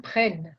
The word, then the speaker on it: prennent: Avec deux E, hein, prennent. Ok. Prennent. No se pronuncia hein, la E finale. La E al final.